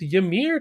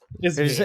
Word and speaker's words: Yzmir: I just always pronounce it as Ymir in my head because it's just Ymir. So I'm like, Ymir. Yeah, but the Z. You're right. My brain just skips over the Z.